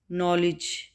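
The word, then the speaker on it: knowledge: नॉलेज, नॉलेज में क्या होगा, के साइलेंट है और डी साइलेंट है, ठीक है, नॉलेज, नॉलेज, नो के साइलेंट है, आपको पता चल रहा होगा के साइलेंट है और लिज डी साइलेंट है, ठीक है, डी की साउंड नहीं आ रही, डी की साउंड वैसे क्या है ड, ड, और के की साउंड क्या है क, ठीक है, नॉलेज, के और डी यहाँ पे साइलेंट हैं, ठीक है, इसका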